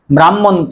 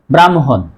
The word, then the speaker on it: ব্রাহ্মণ: আমরা অনেকেই এই শব্দটির উচ্চারণ ব্রাহ্মণ করি। আসলেই শুদ্ধ উচ্চারণ হবে ব্রাহ্মণ।